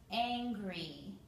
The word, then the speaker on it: angry: Here is the word angry. Angry. Two sounds, two vowels, two syllables. Now the Y on the end makes a long E sound.